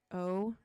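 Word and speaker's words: Ocie: It's spelled O-C-I-E. O.C., right? That's how you would say that, I assume.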